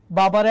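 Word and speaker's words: Balmer: যে এখানে ইংলিশে লিখছি সো ভুলভাল উচ্চারণ কইরো না এটার আনসার কি বামার এটার আনসার কি বামার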